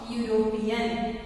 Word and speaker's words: European: So here, even though it is a vowel, but it sounds here in particular sentence or word it pronounced as U, means consonant. So here we have to use a European.